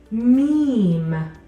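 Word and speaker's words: م: then a line meme the letter me makes a sound this is similar to your m in English our next letter is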